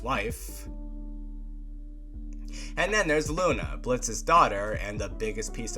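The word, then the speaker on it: Blitzø: The company consists of a group of 4, the owner and leader Blitz, the O is silent, voiced by the iconic Brandon Rogers, one of my favorite comedians.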